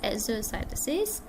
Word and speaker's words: exocytosis: Endocytosis is whereby the substances are taken into the cell, whereas exocytosis rhymes with exit.